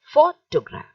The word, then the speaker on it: photograph: sound of o and g r a p h has got the vowel sound of a how would you say this you will say photograph photograph the first syllable is stressed look at the next